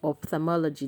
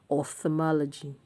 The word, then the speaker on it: ophthalmology: I don't know where we get the ophthalmology from. Ophthalmology, that is the common thing we say, but it is ophthalmology.